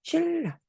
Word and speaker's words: 신라: 리은과 리을 우리는 매끄럽게 연달아 발음을 해야 되는 상황이야. 우린 이럴 때 아불자 받침이 리을로 바뀌었다. 이렇게 리을 리을로 바뀌었지. 신라.